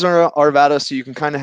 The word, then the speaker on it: Arvada: It was such a cool location and great access to downtown because it's in Arvada. Not Arvada. Yeah. Some people still call me out for the pronunciation, but yeah, it is Arvada, so you can kind